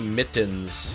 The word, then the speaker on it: mitten: T's when you say mittens. How else do you say it? Yeah, I'm disappointed. My Vancouver 2010 mittens got a big hole in the thumb. Mitten. Mitten. You don't pronounce either of the T's.